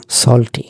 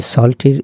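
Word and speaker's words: salty: সল্টি, এই সল্টির দুটো উচ্চারণ আছে, একটি হচ্ছে সল্টি আর একটি হচ্ছে সল্টি। দুটোই ঠিক আছে, সল্টি আর সল্টি।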